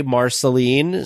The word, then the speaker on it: Marceline: was the first person that we heard say Marceline so that is how it is pronounced down there this gentleman was wonderful he